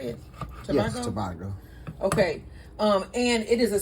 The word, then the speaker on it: Tobago: Yes, Tobago.